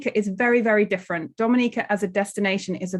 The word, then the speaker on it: Dominica: boom we call it dominica yes the nature i love the caribbean it's rum punch time oh we call it dominican is spelled d-o-m-i-n-i-c-e it is not dominican republic it is pronounced dominica and is situated between